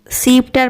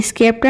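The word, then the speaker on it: sceptre: को कहते हैं डीएडम इसको सीपर पढ़ते हैं स्केप्टर नहीं सीपर पढ़ते हैं इस चीज का प्रोनाउंसिएशन होता है सीपर सीपर का मतलब होता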